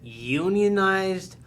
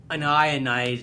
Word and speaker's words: unionized: e d like zed this can be pronounced either unionized or unionized depending if you're a chemist or a tradesman unionized yeah you know